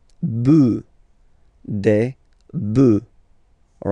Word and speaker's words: bœufs: just add this S, but then pronunciation changes quite much, because you get des bœufs.